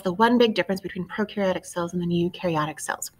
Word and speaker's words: prokaryotic: those electron microscopes so prokaryotic cells one of the pro rhymes with nose we're talking about things